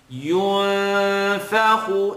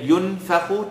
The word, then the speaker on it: ينفخ: ينفخ, noon sukun followed by the letter fa. So it's not going to be at yunfakhu, tongue touch. Yun, it's going to be tongue not touch.